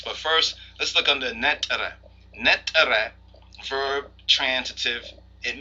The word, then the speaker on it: Neter: a name which was something like an e ter usually pronounced Netta when we look into